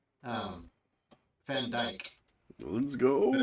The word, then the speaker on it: Dijk: Van Dijk. Let's go. But it's spelled D-I-J-K.